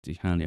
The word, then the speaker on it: Chania: Let me see if I can get the Hania one. I say Hania because it's spelled Chania, but if you're actually over there, they just keep saying Hania.